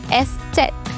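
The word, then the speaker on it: Eszett: pronounce it again straser and this letter is pronounced as estet once again estet okay and one important thing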